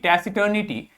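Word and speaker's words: taciturnity: शब्द बन गया टेसिटर्निटी इसका प्रोनंसिएशन ध्यान से देख लो टसी यहां पर आपको सा प्रोनाउंस करना है इसको इसका प्रोनंसिएशन देखिए टैसी टर्न ठीक है इटी ठीक टैसी टर्न इटी टेसिटर्निटी मतलब हो जाता है द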